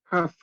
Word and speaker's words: half: Que no pronunciábamos la L. Half.